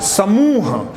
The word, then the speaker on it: समूह: हमारी कोशिश होनी चाहिए आप इसका उच्चारण भी अगर ध्यान से सुनते हैं तो समूह एक समूह नहीं है समूह तो आप देखिए मुंह इसके ऊपर जोर पड़ता है हम इसको थोड़ा दिमाग